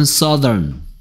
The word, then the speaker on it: southern: 그래서 얘가 써 하고 나서 더 하고 얘는 작은 어입니다. 작은 어. 이가 뒤집어진 것 같은 거. earn. 그래서 얘 발음은 southern. southern.